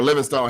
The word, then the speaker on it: Livingstone: yardage, because Peter Parker Livingstone had the long one. Actually, I think it's Livingston now, but we can talk about that later. You're right. The E is silent.